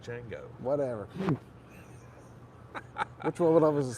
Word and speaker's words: Ninjago: Ninjago is very popular it's not Ninjago it's nango whatever which one was